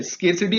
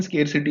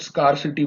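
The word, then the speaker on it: scarcity: तो इसका pronunciation स्केरसिटी है, बहुत सारे लोग स्कारसिटी बोलते हैं तो वो गलत है, स्केरसिटी सही है।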